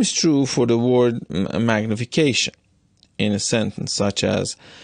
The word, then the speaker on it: magnification: The word magnification will not have a larger stress on the fourth syllable as long as you do not break the sentence into two parts and leave this word at the end of a phrase.